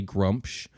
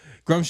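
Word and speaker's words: Gruumsh: is their chief da grump scrum shrum sounds like a bad group group pronouncing wrong my whole life that sounds like a mushroom but I'm pretty sure it's grump she has to use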